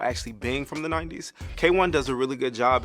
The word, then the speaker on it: KWN: Yes, it's pronounced K1, not Quinwan, not KWN.